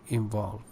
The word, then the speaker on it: involve: And you said involve, it is purely British, and you follow the American pronunciation, so you should say involve.